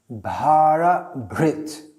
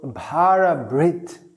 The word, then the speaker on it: Bhara-bhrt: name 851 bahara Brit so you can hear there are two syllables bahara and Brit and they sound quite similar and that's because they come from the same root bhara means a load